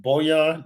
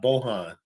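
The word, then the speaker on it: Bojan: some J is also telling us uh it's pronounced boan not Bohan bonovich no maybe in your narrative but not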